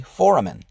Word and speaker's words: foramen: And it's literally phonetically foramen. So an amen is, of course, what you do after you pray, right?